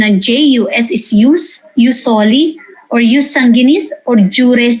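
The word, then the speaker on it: jus soli: or in juice only use or uh proper pronunciation and j-u-s is used usoli or use sanginis or jure sanginis uh you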